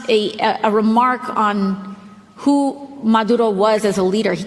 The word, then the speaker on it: Maduro: She literally said, Maduro, however you say it right. I don't speak Spanish, but she did. However you say that Gotta properly. get that R roll, man. Yeah. So Maduro, right? Maduro.